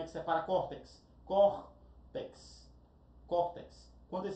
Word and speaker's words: córtex: Córtex, córtex. Quantas sílabas eu tenho? Duas sílabas, córtex. Olha o córtex, ela é oxítona? Não. Ela é o que? Paroxítona terminada em X.